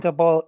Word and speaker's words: Daboll: Yeah, it's Brian Daboll.